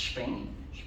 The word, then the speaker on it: Shping: So it's Shping for shopping. So Shping is an ecosystem that connects brands with the end consumers across all retail environments. So there are 3 key pillars to Shping.